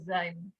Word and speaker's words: sein: Nah, terus kita di sini ada sein. Ini EI, bacanya I ya.